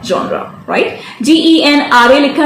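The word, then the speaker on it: genre: इस वर्ड का प्रोनाउंसिएशन होता है जॉनरा। क्या होता है इसका प्रोनाउंसिएशन?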